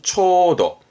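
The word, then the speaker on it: 丁度: 정도라는 건데 없고 발음을 해본다 그러면 초도 맞습니다.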